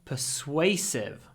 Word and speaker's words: persuasive: the salesman was very persuasive persuasive remember in all these words we have a SW sound in the middle pade and make sure